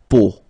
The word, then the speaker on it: peau: it's, but then, so, the sound that you will have to pronounce when you've got these three vowels combined together, it's the sound O. Okay, so really simple, O, okay, so you get la peau, okay, la peau.